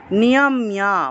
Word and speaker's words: নিয়ম্য: ইয়াস টুইন্দ্রিয়ানি মানসা নিয়ম্যা, এর সাথে জফলা থাকায় মিয় উচ্চারণ হবে, নিয়ম্যা রভতে অর্জুনা, রভতে অর্জুনা।